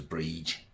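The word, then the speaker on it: Brigid: Bridget but originally was a pagan deity known as Bree spelled B R I G I D if you want to say or spell it B R I Father D.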